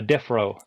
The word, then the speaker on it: Defrowe: of your Channel uh death row it's a play on word so my last name is RO and defro is you know where criminals go